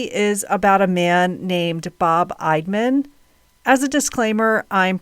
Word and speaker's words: Bob Eidman: So, I'm putting all my trust in them that I'm pronouncing his name correctly with my strong Delaware accent. Bob Idman lives in St.